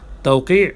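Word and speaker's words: توقيع: তাওকি আইন উচ্চারণ করতে হবে, তাওকি স্বাক্ষর।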